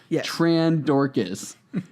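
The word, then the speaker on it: Trandorkis: using helvey's trend dorkis wow that's really how it's spelled yes t-r-a-n-d-o-r-k-i-s tran dorcas add an s in there and you have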